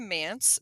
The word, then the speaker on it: MANTS: So, turning it back over to Mance. So, to let our listeners know, it does rhyme with pants, MANTS, and it's the Mid Atlantic Nursery Trade Show.